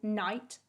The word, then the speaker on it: knight: start of a word so a k becomes a silent letter if it comes before the n in the start of the word for example knight knuckle knowledge and knife this means when we say the word we can't hear the letter k it sounds like it starts with an n the w becomes a